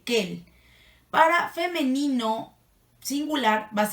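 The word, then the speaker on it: quel: que el que él casi todo se pronuncian igual porque no pero se escriben diferente ahí les va cuando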